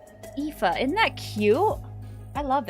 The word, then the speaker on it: Aoife: I don't remember how it's pronounced. I wrote it down. Aoife. Aoife.